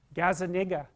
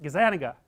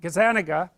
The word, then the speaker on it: Gazzaniga: to say his name Gaza that's wrong is that Gazzaniga yeah I think that's it anyways he did some